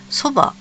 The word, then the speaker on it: 蕎麦: ねところでさそばこれをそばって読むのは強引すぎない音読みだと巨なのよそれがなんで